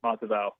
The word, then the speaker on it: Matavao: I found a lot of different pronunciation. I want to make sure I have it right. Pretty close. Moliki Matavao.